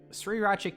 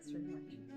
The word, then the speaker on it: Sriracha: Second one, Sriracha. Sriracha. A lot of people say Sriracha. Do they not see that the I is like after the R instead of before the R?